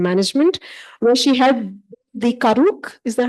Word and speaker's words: Karuk: Her PhD is from Berkeley's Department of Environmental Science, Policy and Management, where she had the Karuk, is that how you say it? Okay, Karuk UC Berkeley Collaborative, a group supporting the Karuk tribe's ecocultural revitalization strategy in Northern California.